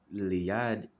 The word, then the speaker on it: Iliad: It says, for instance, Homer's Iliad, and that's how you pronounce it, has fewer, I guess it's his